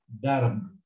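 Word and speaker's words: درب: And then you've got the letter ra with a silent sign. So I read this as dar. The ba has got nothing on top or bottom, so it's also silent. So I read this as darb, darb, which means away.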